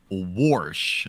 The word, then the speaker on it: wash: clothes or George Washington they will pronounce it as a warsh w r s h that is not a